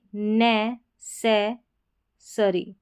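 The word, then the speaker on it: necessary: तो यहाँ पर है ये नै, से, सरी, नेसेसरी, यहाँ पर अ साउंड आ रहा है, ठीक है, अरी करके आ रहा है, ARY का, नेसेसरी, नेसेसरी।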